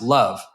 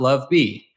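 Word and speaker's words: LOVB: My guest today is my good friend Mike Buffano, CFO at League One Volleyball, pronounced love, not love B.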